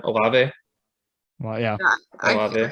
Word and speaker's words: Olave: But I mean, like a Chris Olave, maybe I think it's Olave. Is that how you say it? Olave.